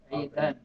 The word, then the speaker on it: عيدا: It should not be Ida. Well, you spell it عيد, but when you're saying it with كم, you have to say عيدا, right? You have to make it with two fathas.